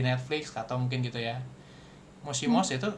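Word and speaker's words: もしもし: Mosimos itu bacanya mosimosi gitu kan.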